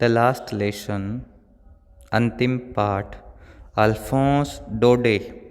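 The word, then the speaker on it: Daudet: The last lesson अंतिम पाठ अल्फोंस डोडे, इसमें टी साइलेंट है, DAUDE डोडे, अल्फोंस डोडे का लिखा हुआ ये पाठ है।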